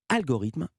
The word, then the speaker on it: Algorithme: Ça sera le titre Algorithme. Je le prononce à la française parce que vous habitez en France désormais.